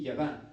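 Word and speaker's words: יָדַע: El verbo es un verbo hebreo llamado, se pronuncia así, yadá, que significa literalmente asegurar al ver.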